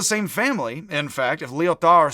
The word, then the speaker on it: Lyotard: This is pronounced Lyotard. You can say Lyotard, to be a real jerk if you're Anglophonic like me. You don't pronounce the D on the end.